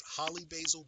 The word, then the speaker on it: holy basil: And one of them is called, it's holly basil, but they call it and spell it holy basil.